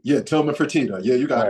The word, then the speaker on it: Fertitta: Please don't hold it to me if I'm not pronouncing his last name correctly. Yeah, Tillman Fertitta.